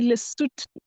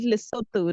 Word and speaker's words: Lesotho: They say Lesotho. I used to call it Lesotho.